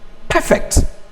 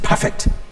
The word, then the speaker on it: perfect: we sometimes call it the stress map automatically remains on the first level or if used as a verb it changes this one is perfect mr perfect that is somebody that